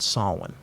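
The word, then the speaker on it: Samhain: They celebrated a holiday called Sawin.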